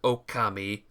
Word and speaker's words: Okami: It's a game called Okami. O K A M I is how you spell it.